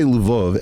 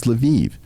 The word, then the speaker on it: Lviv: Now, by the way, if I say Lvov, everyone's going to correct me and say, no, Eric, it's Lviv. It's like, no, these cities all have multiple pronunciations.